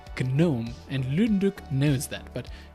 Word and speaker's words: GNOME: steam deck who are like why is it gnome it's pronounced gnome also if you watch Mr Robot